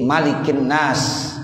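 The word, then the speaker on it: مَلِكِ النَّاسِ: cotil Alif itu ijma' para qarib begitu Jadi malikinnas Bismillahirrohmanirrohim Qul a'udzu birabbinnas malikinnas ilahinas nesyri ruas-ruas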